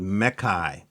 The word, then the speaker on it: mechai: Now, these monsters, these kind of mechanical, biological monsters are called mechai. So like mech AI, and I believe I got that pronunciation directly from Sterling off of Instagram, because I've been known for fucking up pronunciations.